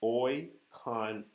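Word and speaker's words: οἰκονομία: Dispensation is a Greek word, and the Greek pronunciation of that word is oikonomia.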